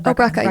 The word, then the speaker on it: Brecka: Gary Burka or Brecka? Brecka, yeah. I was saying it wrong.